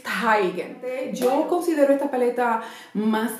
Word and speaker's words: Teigen: Y hablando de iluminadores, esta es la colaboración de Becca con Chrissy Teigen, bueno, yo lo pronuncio en alemán es Teigen.